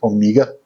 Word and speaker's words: Omega: I believe the correct pronunciation is Omega.